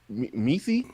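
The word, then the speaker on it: Mecie: see learn how to say them okay m-e-c-i-e meesee meesee okra okra okay okay got his name cauligreen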